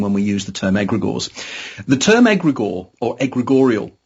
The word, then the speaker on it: egregores: So tell us where your research on non-human intelligence has led and what are egregores. Am I pronouncing that correctly? You are, egregores and egregorial.